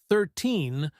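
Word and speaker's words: thirteen: If I say 13, the stress is on the second part, teen.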